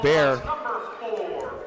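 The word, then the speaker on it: Behr: Going through the lane was Bear.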